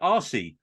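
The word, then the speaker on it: Arcee: new characters thrown in we get RC which is a really bad English pronunciation but it's a r CE the first female Transformer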